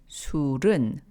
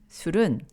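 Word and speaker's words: 술은: Here, sul means alcoholic beverages, followed by the topic particle eun. So, surun, pronounced surun, surun, and an, meaning not, and sikyeoyo, which means order.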